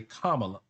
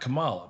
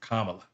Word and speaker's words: Kamala: Notice I say Kamala, not Kamala, because her name is Kamala. That's how it's pronounced.